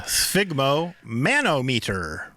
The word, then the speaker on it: sphygmomanometer: Sphygmomanometer. Yep. Am I really saying that right? Yeah. Sphygmomanometer. Sphygmomanometer. Yeah. That's the Canadian pronunciation.